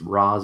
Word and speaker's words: Ra's: I'm not even going to complain that it's Roz and not Raish, but I don't Well, want well to do no, it. they pronounce it two Nolan's different fault. things. It's actually Raish, but like Nolan and them pronounce League of Yeah.